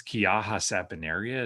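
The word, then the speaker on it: Quillaja saponaria: central western Chile and it's kiaja sapinaria is how you say that name a soap bark tree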